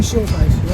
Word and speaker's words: Schuldheiss: Right, Nathan Schuldheiss.